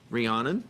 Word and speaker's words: Rhiannon: How do you say? Rhiannon Yard? Rhiannon, okay. I had it right.